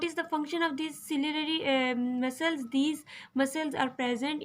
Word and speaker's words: ciliary: Ciliary, ciliary muscles. You can pronunciation is given. You can take the help from this. SIL, ciliary, like ciliary muscles.